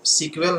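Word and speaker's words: SQL: structured English query language तो school को सीकर हम लोग नाम से जानते हैं यानी की इसको सीक्वल नाम से जाना जाता है और सीक्वल का फुल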